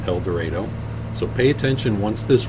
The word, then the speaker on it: El Dorado: That's the correct pronunciation, El Dorado.